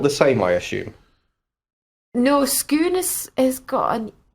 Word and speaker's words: Scone: How do the Scottish pronounce it? Is it scone? It's okay. There's the place Scoon.